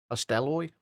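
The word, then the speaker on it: Hastelloy: There's usually a like videos on how to pronounce various things, but according to the AI overview on Google, it's Hasteloy.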